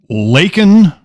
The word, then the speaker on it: Laken: it right say say the name correctly please Laken Riley L A Ken right and it's you